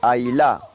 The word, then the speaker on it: Hausler: Ailá, porque el apellido de origen sueco se pronunciaba así, Ailá.